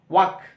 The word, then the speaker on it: walk: एल यहाँ पे silent है, तो वक का जो है ये क्या हो जाएगा, स्पेलिंग WAL के होता है, लेकिन हम उच्चारण करेंगे तो एल को साइलेंट, यानी थोड़ा सा उसको जोर ज्यादा नहीं देंगे, जैसे बोलेंगे वक, है ना।